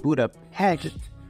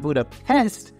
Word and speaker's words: Budapest: a digital Nomad now notice that I said Buddha heck and not Buddha pest because that is how it's actually properly pronounced but anyways everybody always asks me what